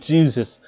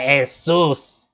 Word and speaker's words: Jesus: wants to be called jesus not the dude on the cross he wants to be named jesus pronounced like the dude on the cross he do not like to go by asus sorry about that he